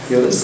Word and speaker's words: Yıldız: And Chana did his bachelor degree in Turkey at the Yıldız Technical University, if you have pronounced it correctly. Yıldız, okay.